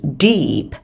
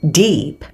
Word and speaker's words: deep: đầu tiên là từ Deep nó sẽ là âm y dài không đọc là đp